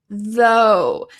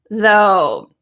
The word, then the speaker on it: though: And this word uses a TH, which I know a lot of you love. So we're going to be practicing the sentence structure and some pronunciation to help you correctly pronounce though.